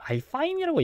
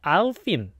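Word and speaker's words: Alpine: 와 자꾸 여기저기에서 이제 그 좀 얘기를 할 때 알파인이라고 하던데 제가 영어 이제 중계 같은 걸 보면 이게 영어로 발음할 때 절대로 알파인이라고 얘기하지 않거든요. 아 그런가요? 또 이게 아울핀 알핀 이렇게 이야기를 하기 때문에 근데 이게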